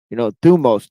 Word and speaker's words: thumos: Thumos, Thumos. Thumos. Okay, that's how you spell it.